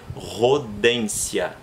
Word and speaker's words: Rodentia: Mas eu não pronuncio em latim o TIA com som de tia.